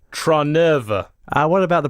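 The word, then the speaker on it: Trnava: pointing this one out it's try nerver and what about the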